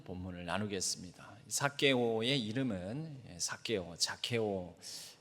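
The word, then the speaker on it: Zacchaeus: 사게오의 이름은 사게오, 자케오.이 이 영어로는 사실 사케오가 제로 시작을 합니다. 그래서 자케오 이렇게 발음하게 되는데요.이 자케오라는이 말의 어근이 되는 히브리어 단어가 있습니다.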